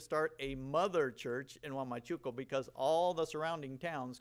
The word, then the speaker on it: Huamachuco: Say Huamachuco with me. Huamachuco. Yeah, it's a different pronunciation, but we are teaming up with five, six sister churches in Trujillo to start a church in Huamachuco.